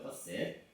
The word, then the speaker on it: 커셋: 그래서 인상주의 그룹의 주요 화가였던 마네, 모네, 르누아르, 드가 이외에도 인상주의로 명성을 얻었던 화가들로는 그러니까 커셋이라고 발음하는 게 발음상으로는 맞습니다. 커셋, 그죠? 커셋, 발음상으로는 커셋.